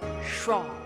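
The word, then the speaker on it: Seam: and i assumed this one the name c pronounced schwab and this is my little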